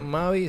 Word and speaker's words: Mavie: Bueno, no, ella en realidad es Mavi, se escribe Mavie.